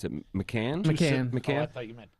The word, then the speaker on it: Macan: Even the Porsche, how do you pronounce it? Macan? Macan.